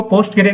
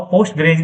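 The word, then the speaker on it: Postgres: पोस्ट ग्रे एसक्यूएल इसको पोस्ट ग्रे भी बोलते हैं। अलग-अलग प्रोनाउंसिएशन है और पोस्ट ग्रेज भी बोलते हैं। तो अलग-अलग लोग अलग-अलग तरीके से इसको प्रोनाउंस करते हैं।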